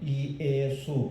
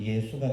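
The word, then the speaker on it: Ἰησοῦς: 정확한 헬라어 발음으로는 이예수 세 글자입니다. 예수. 근데 이거를 빨리 읽으면 예수가 됩니다.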